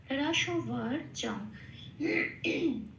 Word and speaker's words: রসবর্জং: এখানে খেয়াল রাখতে হবে এই অক্ষরের এই শব্দের শেষে একটা অনুস্বর আছে। শব্দের শেষে অনুস্বর থাকলে 4 নম্বরে তালিকাভুক্ত করে দেওয়া আছে, সেটা ময় হসন্ত হিসেবে প্রতিস্থাপিত হয়ে যায়। এখানে তাহলে অনুস্বরটা ময় হসন্ত হিসেবে প্রতিস্থাপিত হয়ে হলো জম।